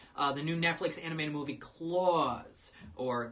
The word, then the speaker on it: Klaus: And last night I watched the new Netflix animated movie Klaus, or Klaus, actually, that's how it's pronounced, about the holiday season and things.